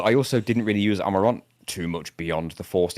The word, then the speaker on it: Amarant: so much better when a British person says it than when a United Statesian says it. Cuz when we say it, it's Amarant. And when you say it, it's Amarant.